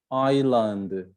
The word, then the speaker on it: island: don't speak the l right island island no s right knowledge no k